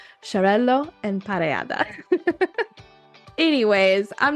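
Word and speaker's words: Xarel·lo: those traditional varieties maabo Sello I always say I always say it with a z I need to say it like the sh shello and Parada anyways I'm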